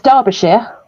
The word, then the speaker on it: Derbyshire: It's Derbyshire. We pronounce it Derbyshire.